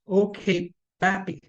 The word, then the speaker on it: Okpabi: In the UK, there's a case called OKBAPI, and I'll spell it OKBPABI, where the court, for